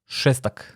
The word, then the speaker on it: Šestak: Even my last name has one. It's sh, šestak.